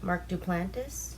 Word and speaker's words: Duplass: It's the movie with Mark Duplass.